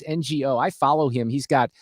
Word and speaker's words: Ngo: You know, you mentioned in your column, is it is it pronounced Andy? No, it's NGO.